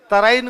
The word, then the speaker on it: तराइन: तराइन को अंग्रेजी वाले कहते हैं टेरेन, टेरेन, और टेरेन ही होता है वो, इंग्लिश में इनकी स्पेलिंग भी ऐसी है, उसको बोलते भी टेरेन है।